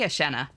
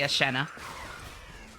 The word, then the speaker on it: Eshenna: Um, how's your name pronounced? Miss Miss Asha. I say Asha. Asha. ish. Eshenna. Yeah, some people say Asha. Doesn't really bother me, but that's not how I pronounce it. I say Asha.